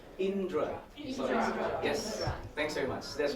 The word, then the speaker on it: Indra: my first name and it's just the two syllable Indra yes thanks very much